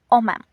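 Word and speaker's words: homem: Letter H, Agha, is always silent in Portuguese. Example, homam is pronounced omam.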